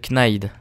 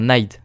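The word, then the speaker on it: knife: de Kip le kit knide enfin nide pourquoi je dis kny on prononce pas le cas non en anglais ah là-bas il y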